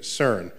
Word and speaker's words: CERN: of the cern collaboration so cern is how you pronounce the word which i think in